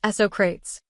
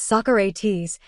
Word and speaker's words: Socrates: Jones remembered asking about one passage written by Socrates, which Jackson pronounced Socrates. Jones said after correcting him, saying, "Michael, it's Socrates," that he was inspired to work with Jackson further.